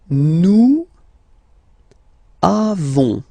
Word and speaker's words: nous avons: Then nous avons, final s not pronounced.